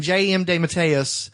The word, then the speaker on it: DeMatteis: Post-crisis, when J.M. DeMatteis revised that You mean character. J.M. DeMatteis? It's not the correct pronunciation.